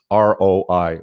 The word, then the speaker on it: ROI: Or they'll spell it Roy in the comments. It's ROI, return on investment, for those of you that haven't heard it.